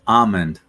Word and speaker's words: almond: it's not almond it's not almond the correct pronunciation is amond ah almost like it should be ah m